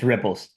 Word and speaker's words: Ripples: I was looking at it and I'm like, how do I pronounce this? Yeah, it's Ripples.